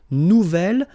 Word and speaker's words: nouvel: gem mu nouvelle ordinator nouvelle phonetically you pronounce it like the feminine version but then you write